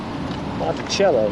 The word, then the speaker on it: Monticello: I want it shallow Monticello you know like the instrument Wabash all right